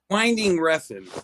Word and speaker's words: Winding Refn: Winding Refn, whatever his.